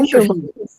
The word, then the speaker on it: unterschieben: unterschieben. Unterschieben, ne? Hey, ये नहीं आएगा. Okay, sir. Yeah, the stress will be on the first syllable.